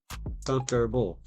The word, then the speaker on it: comfortable: How many syllables? Comfortable. Three.